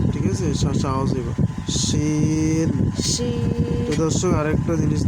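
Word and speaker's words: شين: scene সিনের সিফাত চিকন ঠিক আছে বুঝতে হবে শিন শিন শিন শিন শিনের সিফাত হচ্ছে শাসা ঠিক আছে শাসা আওয়াজ হইবো শিন শিন প্রিয় দর্শক আরেকটা জিনিস দেখাই দেখেন শিনের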